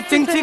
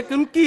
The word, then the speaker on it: Qingqi: जिसको हमने चिंची कर लिया है वैसे उसका जो स्पेलिंग है असली QINGQI। क्या मेरे साथ? QINGQI। ये चुंची नहीं है वैसे, ये कुंकी है, कोई ऐसा ही वर्ड है।